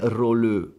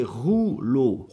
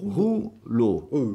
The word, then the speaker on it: rouleau: Non è roleux, è rouleau, rouleau.